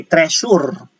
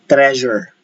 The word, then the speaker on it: treasure: All right, you can notice that the word treasure is spelled with letter S, but we do not say treasure. We say treasure.